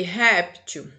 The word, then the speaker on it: réptil: E aqui, réptil, répteis. Gente, olha só, a primeira sílaba aqui, tá? A sílaba forte é rep, tá? O P faz parte dessa sílaba aqui, tá certo?